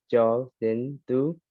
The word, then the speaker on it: Kyaw Zin Thu: My name is Cho Sin Tu. So it's spelled KYAWZINTHU.